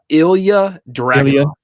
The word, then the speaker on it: Ilya Dragunov: How do you say his name? Ilya Dragunov. Yep, Ilya Dragunov.